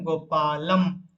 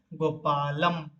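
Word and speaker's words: गोपालं: और ये जब इसको जब हम उच्चारित करेंगे व उच्चारण करेंगे, क्या बोलेंगे ना, गोपालम। ल के ऊपर जो अनुस्वार है वो म जैसा उच्चारण होगा, अतः हम इसको उच्चारण करेंगे गोपालम।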